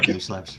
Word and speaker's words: Newslabs: Am I pronouncing it right? Newslabs? Right? Newslabs, yeah, that's correct.